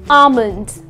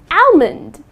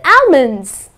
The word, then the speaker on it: almond: Many people tend to pronounce it as almond. I will like to eat 5 almonds. That's incorrect. The correct pronunciation is almond, okay? almond. Okay, so the L is silent.